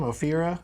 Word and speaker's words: Ophira: Ophira? Ophira Eisenberg.